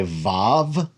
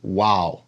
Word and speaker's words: vav: you can say it most modern Hebrew speakers say VAV and ancient Hebrew it was pronounced wow so it's either a v